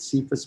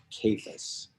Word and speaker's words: Cephas: and it is pronounced capus it is because i was thinking because there's not a c sound for a kappa i literally have never